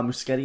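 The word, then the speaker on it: Muschietti: I know any uh muskete is how you pronounce his name I know he says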